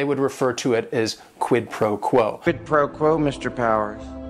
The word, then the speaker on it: quid pro quo: And it is three words. Each word is only one syllable. And if you're saying it together, the stress is kind of on that first word and that last word, quid pro quo.